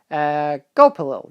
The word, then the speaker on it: Gulpilil: I'm really bad at pronouncing his name. Gulpilil.